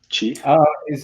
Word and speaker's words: Qi: Chi? Yeah, so it's called Chi. It's spelled QI.